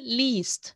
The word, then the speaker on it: liest: Ich lese, du liest. This is hard to pronounce. I must be honest, I totally understand, because you have the long E and then the ST sound.